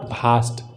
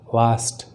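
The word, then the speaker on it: vast: Question is सो वास्ट, इट्स नॉट भास्ट, वास्ट, वास्ट।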